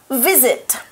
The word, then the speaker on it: visit: house one's really easy yet all know it visit visits so the way you're pronouncing it is right right but so I'm